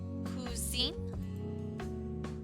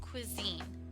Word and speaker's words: cuisine: Oh, cuisine? Huh, it's pronounced cuisine, Kiana. It means food.